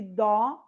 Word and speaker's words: dó: Porém, um eu disse dó e o outro eu disse do. O dó é uma sílaba tônica. Então, ele recebe acento. Como eu estou abrindo mais a minha boca, o acento que eu coloco é o acento agudo.